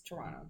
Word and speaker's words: Toronto: go to toronto but no one from toronto pronounces it like that no it's toronto yeah we don't pronounce the final t and then uh gabby